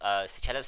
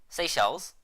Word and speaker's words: Seychelles: And what happened was that basically Cloudberry over here made a post about Seychelles flag asking why. Wait, how do you pronounce it? Seychelles?